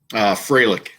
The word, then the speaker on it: Froehlich: going to say this How do you pronounce his last name? Fralick. So Kyle Froehlich.